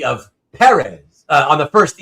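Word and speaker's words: Pérez: It might even be it might even be George Perez accent on the on the first E, whatever. But the big title is accent on the first E, you know. Um, so and that's from the early 80s. So it goes it goes his his desire to get people to try to say Perez U goes back a long long way, you know.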